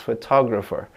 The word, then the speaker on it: photographer: This one, photographer, the second one is stressed.